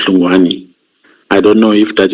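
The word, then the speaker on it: Hlungwani: Yeah, because the way I spelled his name here is H L U N G W A N I. So that is Luani.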